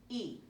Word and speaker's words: y: Now it's a different, the way you say the letter, but as it, by itself, it's also a word, E. And we pronounce that word E.